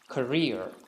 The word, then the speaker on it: career: who pronounces it as carrier because the correct pronunciation for this word is career career career sarah has had a promising career